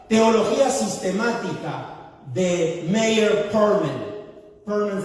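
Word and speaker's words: Pearlman: Perlman se escribe P-E-A-R-L-M-A-N, de perla, ¿no?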